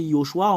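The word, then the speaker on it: יְהוֹשֻׁעַ: Selon les Juifs, le fait de le prononcer, c'est Yehoshua.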